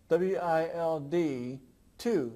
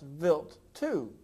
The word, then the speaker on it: Wild 2: Vilt 2 is spelled W-I-L-D 2. It looks like wild 2, but it's pronounced Vilt 2.